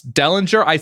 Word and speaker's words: Dellenger: we are now joined by Sports Illustrated's Ross Dellinger I'm sorry I only reads your name I don't know how to pronounce it if I'm pronouncing it correctly is